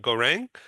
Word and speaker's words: Gaurang: Philip Berry and Stephen Howard, and in Cambodia is GAURANG. Am I pronouncing your name correctly? Please correct me if Yeah, I'm wrong. yeah, you are pronouncing correctly.